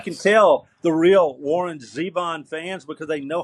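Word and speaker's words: Zevon: tell the real Warren Zeon fans because they know how to pronounce his last name it's not Warren zabon it's Warren Zeon and uh just a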